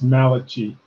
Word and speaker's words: Malachi: so much linda and my sincerest apologies for mispronouncing your last name it's malachi a big person named